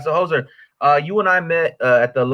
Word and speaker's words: Jozer: Jozer? Yeah, Jozer. Jozer. Okay, Jozer. I want to make sure I'm saying that right. All right, so Jozer, you and I met at the Lalo Delgado Poetry Festival.